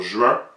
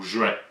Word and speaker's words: juin: tête dur comme lui et bien les deux existent les deux coexistent d'Antidote là c'est c'est assez clair là on peut dire juin ou juin là aussi ça dépend un peu d'où est-ce qu'on habite ce qui est amusant